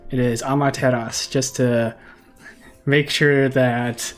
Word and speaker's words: Amaterasu: Okay, and before anybody flames me for pronouncing the debuff wrong, it is Amaterasu. Amaterasu. It is Amaterasu, just to make sure that I fix it before we put this episode out.